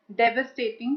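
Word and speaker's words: devastating: Lethal से related words है फेटल, फेटलिस्ट, disastrous, डेवस्टेटिंग। Pronunciation please ध्यान रखना, डेवस्टेटिंग, ruinous, कैटास्ट्रोफिक, कैलामिटस, कैलामिटस, कैटाक्लिज्मिक और ग्रीवस।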